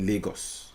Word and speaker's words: Lagos: named Lagos Lagos well in Portugal they have a poli called Lagos but in Africa in Nigeria we call it Legos okay because of how we pronounce our words anyway natives